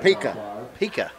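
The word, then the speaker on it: Pica: Now, how you say his name correctly so I don't screw it up? He's just a sophomore. Pika. Pika. P-I-C-A.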